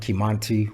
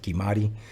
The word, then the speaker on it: Kimanti: It's short for my real name, which is Kimati or Kimanti, depends on how you want to pronounce it. It's spelled Kimanti, we pronounce it Kimati.